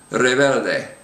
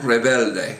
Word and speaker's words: rebelde: And so the words here would be pronounced liberal, aventurero, rebelde. So you can see that the sound almost doesn't even come out. Rebelde, rebelde. It's almost a W kind of a sound.